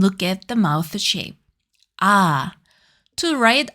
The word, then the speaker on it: ㅏ: To write ah, draw a vertical line from top to bottom. Then a short line from left to right. To pronounce it, open your mouth wide and lower your tongue.